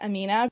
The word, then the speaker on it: AMNH: um this amnh and i think that's supposed to be pronounced amina when i went and